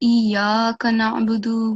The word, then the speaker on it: إياك نعبد: and here, Iyyaka nasta'in, it's not supposed to be prolonged more than 1 second. So I felt like you prolonged it a little bit too much. Okay. So it should be Iyyaka na'budu wa Iyyaka nasta'in.